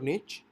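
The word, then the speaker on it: niche: भी चेक करनी है निश मींस आप इसको इस तरह से प्रोनाउंस कर सकते हैं निश और निच और इसका जो बेसिकली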